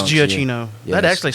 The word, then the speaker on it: Giacchino: Giacchino. Well, why is there two C's? Because it's Italian. I can't explain to you Italian. So you think it's Giacchino? Yes, That actually sounds... Giacchino.